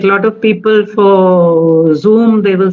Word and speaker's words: Zoom: It is a Z over there, right? It's Yes. not a J. It's not a J for jug. It is not Yeah. Zoom. It is Zoom. So the Zoom. pronunciation is Zoom.